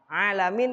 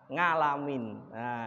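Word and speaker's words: العالمين: alwahyu yaitu Salah kaprah ya alamin kita baca ngalamin Jangan sampai karena apa secara bacaan kita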